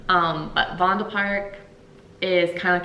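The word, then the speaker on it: Vondelpark: for the h holidays fondal Park uh vond Park um they pronounce V's like FS here um but vondal park is kind of like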